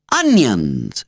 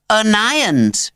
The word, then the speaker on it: Onions: hard name to pronounce onion actually a sharp little voice corrected from the front row Olivia came from Oak she had a small neat face framed in small neat curls and she was pale and skinny looking inside though she had a steel core it's anons she repeated it rhymes with irons really flattered Miss Bingham